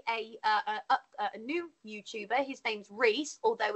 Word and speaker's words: Rhys: His name's Reese, although it's spelt Rise, RHYS. He's new. He just joined the community, but it's actually pronounced Reese. His name's Reese, the Creature Cave, and he's a really good